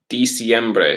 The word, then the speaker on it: diciembre: December would be December is diciembre. So it's actually spelled with an I after the D, right?